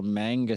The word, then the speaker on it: manga: It's pronounced manga, I believe.